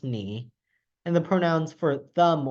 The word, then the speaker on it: 你: Oh, by the way, the pronoun for you is pronounced ni, and the pronouns for them or him, but also her, is pronounced ta.